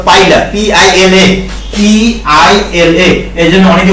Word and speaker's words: Pila: শামুক, শামুকটা হলো পাইলা গ্লোবোসা, ওটা উচ্চারণটা পিলা না, উচ্চারণটা হলো পাইলা, PILA, PILA।